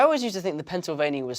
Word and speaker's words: Pennsylvania: you just want to break it down pen remember it's two ends seoul bay like survey mia like ria i'm gonna go down